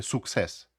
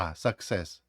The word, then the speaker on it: success: не fні і sucсс ні в якому разі не вимовляйте суксс у закритому складі вона вимовляється як а success успіх ще раз передивіться